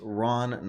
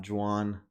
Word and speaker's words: Ron: miss you bro Dylan it's Ron not drawn I'm sorry Ron I